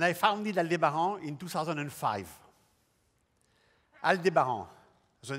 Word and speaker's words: Aldebaran: aldebaran the name of my company alu de baran